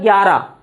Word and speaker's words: ग्यारह: is written perfectly as a 11, the letter H is there, but generally when we speak continuously or when fast, we speak very fast Hindi, or you might hear fast Hindi, you might hear gyara. Gyara. I think they can. You may not hear this H. So, or while speaking, you can just omit this H. Yeah. It is valid. It is fine. So you can call it as a gyara.